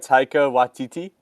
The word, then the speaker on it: Taika Waititi: Taika Waititi. Taika, am I saying it right? Taika Waititi?